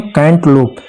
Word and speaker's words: cantaloupe: खरबूजा, खरबूजा को इंग्लिश में कहते हैं कैंटलोप, स्पेलिंग है इसका CANTALOUPE, कैंटलोप मतलब होता है खरबूजा।